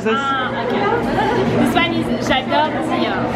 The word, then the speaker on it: J'adore: This one is J'adore. J'adore. Okay. Não é? Então, olha aqui, eu mostrei a foto pra ela. Where are you from? So, J'adore.